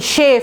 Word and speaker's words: chafe: শেফ, এটার উচ্চারণটা দেখেন, CHAFE, শেফ, ওই যে ঘষে ঘষে, শেফ মানেও বারবার ঘষে ঘষে একটা জিনিস নষ্ট করে ফেলা।